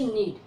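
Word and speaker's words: knead: तो के बाद जब एन आया है तो के का उच्चारण नहीं करेंगे, इसको पढ़ेंगे नीड।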